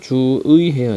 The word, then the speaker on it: 주의: 몸으로 주위는 기본형 기본적으로는 주의해야 돼요 그런데 이때 의가 단어의 첫 음절이 아니기 때문에 첫 음절이 아니고 두 번째 음절이 그러니까 얘는 주의 이렇게 발음해도 된다는 얘기야 나의 마음의 자 나의